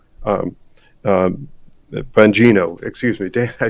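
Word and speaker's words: Bongino: go watch some of the videos of Dan Bonjouro um um Banino, excuse me, Dan I said his name wrong.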